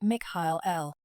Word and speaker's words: Michael: My two eldest sons from my celestial realm are Michael, truly pronounced more like Mikhail and Hel-El.